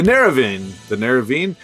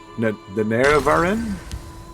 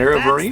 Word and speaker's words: Nerevarine: The Neravine. Man, I can't catch a break on pronunciation. The Nerevarine? Steal from folks who ain't using. The Nerevarine?